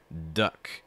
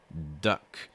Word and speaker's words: duck: quick first one here duck duck make sure you get that schwa sound it's not you should really feel this in your chest in this area kind of your throat in